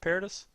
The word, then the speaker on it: Paradis: By the way, how do you pronounce his name? Austin Matt Paradis? Paradis.